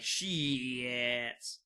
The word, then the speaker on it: X-Tats: People don't call themselves X-Tats. They say it like she-ats.